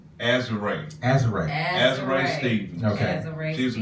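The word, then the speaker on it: Azurá: And the Azura is pronounced Azure.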